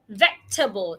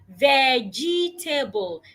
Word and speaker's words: vegetable: A lot of people pronounce the word as vegetable, having four syllables. However, the word has just three syllables. Why? Because the E after the G is silent. So, the word has just three syllables. Vegetable.